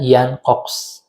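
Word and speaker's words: Jan Cox: bernama yankox atau kita kalau menulisnya itu ya tapi dibacanya yang cox nah pada waktu itu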